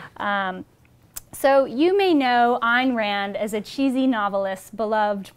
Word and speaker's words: Ayn Rand: keeping with her philosophy the correct pronunciation of her name rhymes with the word mine so keep that in